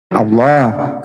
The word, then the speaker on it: Allah: Sesungguhnya, Akulah nama Allah , dalam bahasa Latin tertulis a l a h, pengucapannya harus tebal Allah karena menurut bahasa Arab, alif lam lam ha harus ditebalkan di sana, kan?